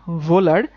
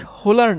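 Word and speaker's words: Wöhler: তার নাম হচ্ছে ফ্রেডরিক ভোলার। ইনার নামের উচ্চারণটা একটু একটু উদ্ভট বুঝছো। সো উনার নামটা হচ্ছে ফ্রেডরিক ফ্রেডরিক ভোলার। আচ্ছা ওনার নামের উচ্চারণটা আমি একটু বলে দেই। ইনি কিন্তু ফ্রেডরিক হোলার না।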